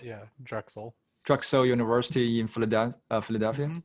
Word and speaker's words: Drexel: it right drug cell philadelphia anybody did that pronounce this crack drug cell university right yeah drexel drugstore university in florida philadelphia okay all right